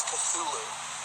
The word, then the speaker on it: Cthulhu: But Cthulhu is one that I think most Lovecraft scholars would argue is the appropriate pronunciation. Right. The way I've always said it, and the way that most of the fans that I've talked to have always said it, is Cthulhu.